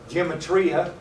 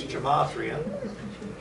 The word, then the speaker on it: gematria: Every letter in Hebrew has a numerical value, which we call a gematria, or some people pronounce it gematria. I don't know how they pronounce it that way. To me, it's gematria. I want you to know that this is not numerology.